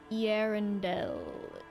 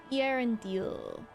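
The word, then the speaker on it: Eärendil: The dots indicating that the vocals next to each other should be pronounced individually. So, Irondale. Irondil.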